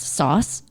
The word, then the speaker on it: Sos: It's on my side, and it's actually really small, but it's like it literally is just Morse code for my last name, SOS, which is pronounced sauce.